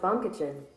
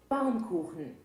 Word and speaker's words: Baumkuchen: hey Google how do you pronounce baumkuchen that's pronounced bum kitchen all right how do you pronounce baumkuchen and German bomb koukin bomb cooling right but anyways this is a